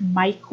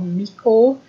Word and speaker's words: Miko: And one of the other channels that I've heard talked about quite a bit, I think it's pronounced Miko or Miko, and it's M-I-K-O, and they are on YouTube, and all of those patterns that are on there are free.